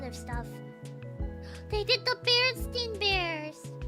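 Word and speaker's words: Berenstain: They did the Baronstein bears. The Baronstein bears. That's how you pronounced it.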